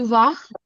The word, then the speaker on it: vas: S is silent. Tu vas. Tu Tu vas.